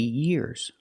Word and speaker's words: year: And remember the pronunciation of year. Make the long E sound, connect it to the R.